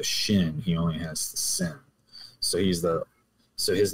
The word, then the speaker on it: Sin: But then if the accent's on the left, it's pronounced Sin without the H.